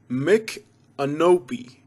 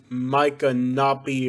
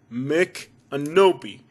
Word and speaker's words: Micanopy: another native american name the right pronunciation is mick anopi makenobe not micah nappy or snoopy noppy canopy or canopy or mc canopy mick and opie say with me children mick and nobi wanna move to florida